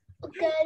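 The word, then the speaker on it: を: Cô Hiền viết là WO nhưng mình đọc là O nhá.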